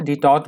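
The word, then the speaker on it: détente: यहाँ से दूसरा एडिटोरियल भी शुरू हो रहा है, आप इसकी हेडिंग देख सकते हैं, इसकी प्रोनाउंसिएशन भी देख लीजिएगा, डिटॉट बोलेंगे, डिटॉट। डिटॉट वर्ड यहाँ पे नाउन की तरह यूज हुआ है।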